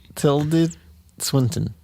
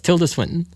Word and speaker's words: Tilda Swinton: I'm gonna sit here until you pronounce her name. Tilde Swinton. Okay, yeah, close. Tilda Swinton.